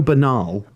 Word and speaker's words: banal: You find it funny that you pronounce banal the way you do, when if you take the B off, it's No, I'd say it the same way. Anal.